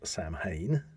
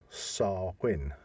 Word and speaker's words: Samhain: most people and I have heard people uh pronunciate it as Sam Hayne yeah but it should be SAR Quinn really yeah now that's interesting because obviously we